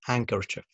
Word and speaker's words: handkerchief: جه في نص الكلام زي handkerchief handkerchief okay or handsome handsome طبعا ده silent letter حرف الاي بيلخبط ناس